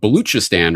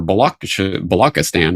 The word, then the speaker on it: Balochistan: years ago, I was writing about Baluchistan or Balochistan, or it's spelled and pronounced different ways in English.